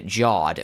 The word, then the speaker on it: Jawed: Also, it's pronounced Jawed, for the record."